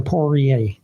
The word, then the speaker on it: Poirier: Rhymes with lawyer.